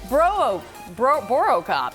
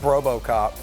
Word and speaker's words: Borocop: Mark Borvetsky is Borocop. Yeah, that's how you say it. I was looking at like Brobocop.